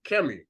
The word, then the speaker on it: Kemet: When you look at Kemi, what they call Kemet, because he followed the same rule as the King Kongo. The T is silent. Kemi.